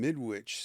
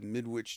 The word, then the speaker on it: Midwich: Interestingly, the name midwich sounds much like midwife, but with the emphasis of witch, modifying the second syllable.